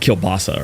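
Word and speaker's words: kielbasa: It's It's pronounced kilbasa or something, but I always called it kabasi.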